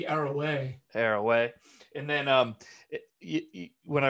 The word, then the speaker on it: Arouet: Is that how you say it? Arouet or Arouet? Yeah, I think I've heard both, but I do think it is maybe Arroway.